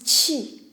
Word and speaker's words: qi: Ce caractère se prononce qi, le souffle vital.